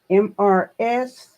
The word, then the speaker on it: Mrs.: And then here, MRS period is pronounced Mrs.